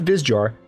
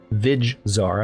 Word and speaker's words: Vizjar: Meanwhile, I can swoop in behind them and take Vizjar, not Vizjar, Vizjar. I've been mispronouncing that.